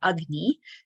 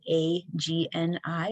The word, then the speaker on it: agni: we want to feed our digestion or our agni this is a sanskrit word that's called a that's spelled a g-n-i or agni we want to think of it